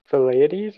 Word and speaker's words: Thucydides: Could that first one have been Thucydides or something? It's Thucydides. Can you spell that again?